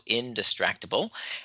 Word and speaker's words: Indistractable: It's spelled I-N, the word distract, A-B-L-E. So Indistractable.